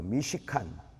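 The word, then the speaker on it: מִשְׁכָּן: 미시칸. 말이 어렵죠, 그죠? 미시칸. 잘못 발음은요 무식한 됩니다. 미시칸.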